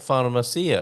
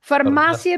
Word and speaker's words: farmácia: Farmácia because you have the accent on the second A, right? It's farmácia. And the accent always tells you that where the accent is, you stress that syllable.